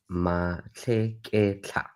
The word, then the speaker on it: Matlheketlha: my surname is Matlheketlha.